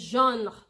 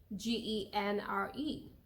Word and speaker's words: genre: It's just genre. Some people don't say the. That's how it's pronounced in French. Genre. You can spell it in French, if for pronunciation purposes, as JAHN, but in English it is same spelling though, GENRE. In French it's called genre. In English, genre. It's je, but genre and genre. It doesn't land in French, okay?